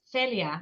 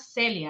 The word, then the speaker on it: Celia: They're like, your name is Celia, not Celia, and I'm like, sir, I'm from the Caribbean. Like it's Celia.